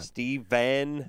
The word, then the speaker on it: Stephan: more the case really we're just going to pronounce s-t-e-p-h-a-n exactly the same as v-e-n in this case we are going to i'm just going to say it just like i said just like that steven yeah ben i feel